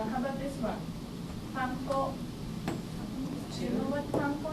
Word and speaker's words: panko: Panko. Yep. How do you break up? Panko. Ko. Right. And ko. In Japanese, we use mora. So there are 3 moras. Pa, in, ko.